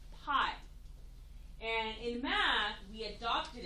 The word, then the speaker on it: pi: So in math, we use this Greek letter from the Greek alphabet, and it's pronounced pi.